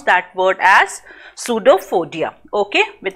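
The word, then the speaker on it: pseudopodia: Okay, with its finger like projection, that's that is called false feet, and we pronounce that word as pseudophodia.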